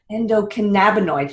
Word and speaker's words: endocannabinoid: So you mentioned earlier that we all have this, and I don't know if I'm going to be able to pronounce it. Endocannabinoid. Endocannabinoid.